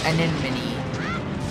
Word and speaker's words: Anemone: And yes, that's how you pronounce it. Anemone.